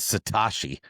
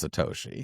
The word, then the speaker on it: Satoshi: He calls um he he always says Satashi. I'm like surely he knows how to pronounce Satoshi, you know.